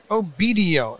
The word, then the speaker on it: Obedio: o-e-b-d-i-o how do you say that oh video obedio obedio and so as always we're cruising around